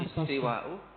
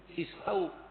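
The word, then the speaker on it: استواء: Istiwa'u madhi wa zammi. Oh. Istiwaul madhi wa zammi. Artinya, pengertiannya itu. Itu bacanya bukan istiwa'u mestinya. Istau.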